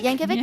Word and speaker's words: Yankovic: Yankovic, yeah.